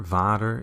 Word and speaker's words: Vader: alert Star Wars Vader Vader is Dutch for father actually people in America think it's German for father but she's not true in Germany so fought that but Vader spelled like this is Dutch so V is also